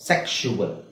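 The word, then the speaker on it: sexual: ಹೇಳಿ ಶು ಸೆಕ್ಷುವಲ್ okay ಅಲ್ಲಿ ಕ ಅಂತ ಬರುತ್ತೆ ಕ ಮತ್ತೆ ಶ ಒಟ್ಟಿಗೆ ಹೇಳಬೇಕು ಸೆಕ್ಷುವಲ್ ನೆಕ್ಸ್ಟ್ ಟ್ರಾನ್ಸ್ಫಿಕ್ಷನ್ ಟ್ರಾನ್ಸ್ಫಿಕ್ಷನ್ ಸೋ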